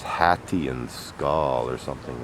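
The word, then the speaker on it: Sköll: not actually an eclipse so pronounced roughly skull old norse skull one who mocks so that's interesting and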